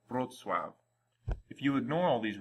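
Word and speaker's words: Wrocław: them together in this name it sounds like brutwav if you ignore all these rules and choose to call it whatever you want probably something like rokua some people will understand what you're trying to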